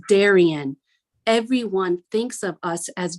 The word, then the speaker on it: Darien: Darien, where the D is silent. Didn't you know? What did you expect? It's Darien.